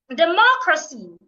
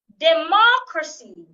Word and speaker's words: democracy: Democracy. Democracy. Not democracy. Deocracy. I'm stressing the second syllable as well.